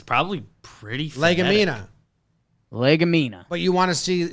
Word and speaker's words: Legumina: Because they're saying it's pronounced legumina, which sounds just like a Southern person trying to say a Latin word.